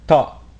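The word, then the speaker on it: ط: on to the letter ta this letter represents the emphatic counterpart of the letter T and deepens the quality of surrounding vowels thought is a connector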